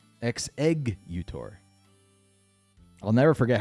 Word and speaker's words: Exeggutor: and figure it out is it EG gex no it's X egg utor the egg pun happens on the second s able could have been eggs utor but no exeggutor I'll never forget how